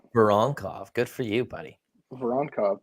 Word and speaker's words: Voronkov: Voronkov, baby. It's easy. You say it exactly how it's spelled.